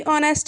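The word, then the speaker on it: honest: बारे में पढ़ा था तो यहां पर साइलेंट क्या है एज है जब हम इसको बोल रहे हैं तो साउंड किसका आ रहा है ओ का आ रहा है और ओ क्या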